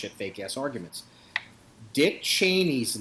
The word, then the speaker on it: Cheney: but actual the pronunciation at home and the pronunciation in my family is chy and here's the thing nobody went around whacking